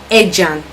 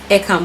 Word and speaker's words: Ercan: When you land North Cyprus airport, we call it Ejan. but the pronunciation is Ecan. That's ERCAN. That's if you're calling it in the English form, you call it Ecan, but it's Ejan. That's how we pronounce it here in North Cyprus.